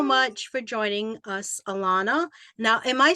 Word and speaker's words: Alannah: thank you so much for join joining us Alana now am I saying your name right Alana you are yes thank you okay all right